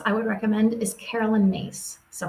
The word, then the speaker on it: Myss: would recommend is Carolyn mace so her name's a little bit tricky last name is spelled myss but she does some